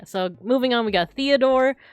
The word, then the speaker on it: Theodore: Oh yeah, so moving on, we got Theodore. Like I said, there's no TH, so it would just be Theodore.